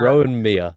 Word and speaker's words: Rohan Miah: I'm sorry, I've been pronouncing it with a hard H as well this whole time. All I've right, been go- yeah, I've been going Rohan. I think I said Maya as well at the start. So there you go.